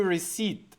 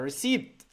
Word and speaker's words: receipt: If I click that, then we get a Solana receipt. I don't know how to pronounce it. Receipt, receipt, receipt, receipt. Something is silent. I think the P is silent.